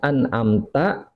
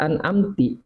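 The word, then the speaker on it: أنعمت: Atau dia keliru di dalam ucapan, misalkan an'amta dibaca an'amti atau an'amtu. Ini keadaan bacaan ini merubah makna. Kalau an'amta, nikmat yang kau berikan, tapi an'amti, nikmat yang kau berikan, tapi lawan bicara kita wanita. Kalau an'amtu, ya itu lain lagi, itu mutakalim.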